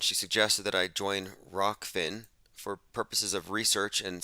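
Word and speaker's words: Rokfin: I'm going to call it Rockfin unless they continue to blackball me, in which case it will go back to Rofkin.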